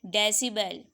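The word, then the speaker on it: decibel: इस dB का क्या मतलब है, आप इसको dB प्रोनाउंस नहीं करोगे, इस dB का मतलब है डेसिबल।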